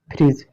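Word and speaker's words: fridge: क्या पढ़ेंगे, फ्रीज।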